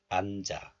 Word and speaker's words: 앉아: This one is pronounced as 안 when pronounced alone. And this is also followed by a vowel here. So liaison or linking occurs. So the 지읒 moves to the next letter, and this 아 becomes 자. So this is pronounced as 앉아, 앉아. Lyrics number 4 is from